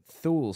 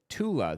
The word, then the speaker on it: Thule: Somebody says Thule Society. It's actually pronounced Tula, the Tula Society, because Germans can't pronounce the TH.